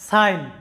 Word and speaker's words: sign: লক্ষ্য করো, সাইন এখানে কি আছে, যে SIN, সাইন। জি এর উচ্চারণটা এখানে সাইলেন্ট আছে, অর্থাৎ জি এর কোনো সাউন্ড আসে নাই।